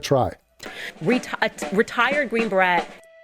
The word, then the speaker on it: beret: Retired Green Beret. Again, it's French, beret. B-R-E-T. Beret? So you just went... Okay. It's a silent letter.